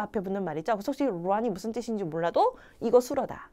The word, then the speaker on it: 软: 제가 중국어 발음 중에 제일 부드럽게 하는 발음인 것 같아요. 여러분 한번 해보세요. 루안. 혀가 정말 부드럽게 말아 올라가죠.